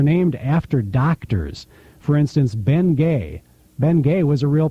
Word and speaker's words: Bengay: they changed the spelling so Americans could could pronounce it right and that was his last name Ben Gay right H and also Salsbury steak is named